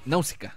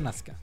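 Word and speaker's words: Nausicaä: Pero como que la vocal del medio se silencia.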